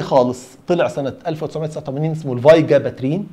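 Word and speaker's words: Vigabatrin: السكند جينيريشن الاولاني خالص طلع سنه 1989 اسمه الفاي جاباترين. فاي انطقها على مرتين، فاي وجاباترين.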